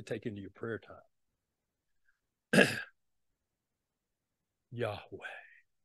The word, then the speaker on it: Yahweh: I am is written as yhwh which is pronounced Yahweh now here's here's a little just a little exercise for you uh to take into your prayer time Yahweh say that with me Yahweh Yahweh Yahweh Yahweh